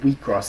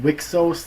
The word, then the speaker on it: Wixoss: Anyways, and number 1, my favorite anime of the season is Selector Infected Wheatcross. It's spelled like Wixos, like all capitals Wixoss, but it's pronounced Wheatcross.